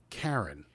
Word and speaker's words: Charon: They're pronouncing the ship Karen, not Charon, and not Sharon, which I would say.